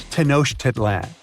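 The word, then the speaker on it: Tenochtitlan: Can you pronounce this name of the Aztec capital city? Yes, it's quite difficult to say in English and above my pay grade. Okay. Okay. It's Tenosh Titlan.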